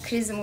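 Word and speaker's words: XRISM: Son gönderdiğimiz işte NASA ile Japon Uzay Ajansı'nın gönderdiği Krizim uydusunun çıkartması. Bu benim başka. Krizim diye mi okunuyor? Zrizm diye mi okunuyor? X-Rizm. Hala tartışıyoruz.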